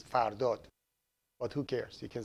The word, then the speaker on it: Fardad: My name is Fardad. When I speak English, I say Fardad, but the correct pronunciation is Fardot.